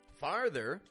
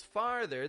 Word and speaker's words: farther: t h e r the vowel sound I'm using is a simple R far and then a flat thether farther farther physical distance